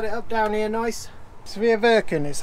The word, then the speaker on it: Sveaverken: up you set it up down here nice severe virgin is how you pronounce it it's the f-100 steering kit and